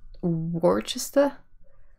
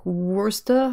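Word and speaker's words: Worcester: happens with I'm gonna I know I'm gonna say it wrong but Worchester like it's like werster or fine fine let's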